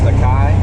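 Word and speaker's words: açaí: And this one is, I think it's pronounced Akai.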